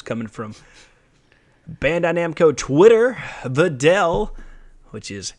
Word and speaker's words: Videl: Videl, which is how you actually say her name.